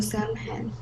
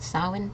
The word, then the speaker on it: Samhain: As hundreds of years passed, people from other lands added their own traditions to Samhain.